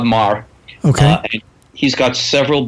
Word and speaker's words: Meagher: The work of Robert Emmett Marr, spelled Meagher. So I couldn't pronounce it until I met him. But Bob Marr.